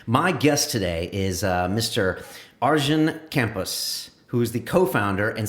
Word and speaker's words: Arjen Kamphuis: Arjen Kamphuis, who is the co-founder and CTO of Gendo. Is that pronounced right?